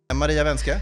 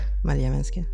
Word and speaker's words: Maria Vänskä: Maria Wenske, Maria Wenske. välkommen hit. Bra uttal av efternamnet.